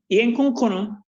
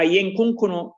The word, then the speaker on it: Yenkunkunu: Okay, so Yenkunkunu, or Yenkunkunu, as some persons might have pronounced it, is an Akan word.